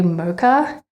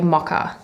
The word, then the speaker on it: mocha: me say mocha when as an Aussie I would say mocka but living in Canada for so long pronouncing it mocha if I go and order a mocka nobody knows what I'm talking about. So I'm very trained to say mocha.